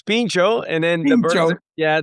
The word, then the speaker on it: Pincho: Am I pronouncing the name right, guys? Yeah, so it's Pincho and then the burger Yeah, the the burgers and kebabs is sort of just like our descriptor.